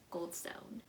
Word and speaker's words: Gladstone: Amal El-Multair and Max Gladstone. I pronounced the first one right, but I pronounced the white sounding name wrong.